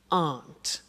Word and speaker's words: aren't: they aren't cheap so the difficult here is the pronunciation of are not which is Aunt okay a good so